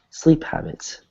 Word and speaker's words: habit: do uh this word sleep habits sleep habit sleep habit lip habit good right so remember the H is pronounced whereas maybe some of your native languages the H is silent in English usually pronounced